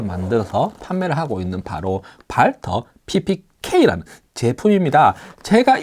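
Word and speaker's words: Walther: 메탈 슬라이드라는 제품, 발터 PPK W라고 해서 뭐 웰터라고 읽으시는 분도 있는데, 뭐 독일 발음, 영문 발음을 하면은 발터 PPK 제품입니다.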